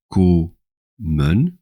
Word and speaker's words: komen: Si on fait la règle des syllabes, ko-men, la première syllabe c'est ko, la deuxième syllabe c'est men. Si on appliquait les règles d'orthographe, on devrait écrire kom pour le radical. Comme komen, c'est une syllabe ouverte, le son il est long, nous devons retrouver